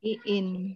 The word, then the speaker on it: Iin: Lin atau Iin ini bacanya? Iin. Iin.